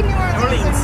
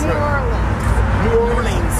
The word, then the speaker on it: New Orleans: Say New Orleans. New Orleans.